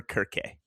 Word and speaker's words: Circe: So a lot of people pronounce it Circe. The Greek way, there are two ways to pronounce it: Circe or Kirke. Kirke. Okay. Yeah, because they use the K sound a lot.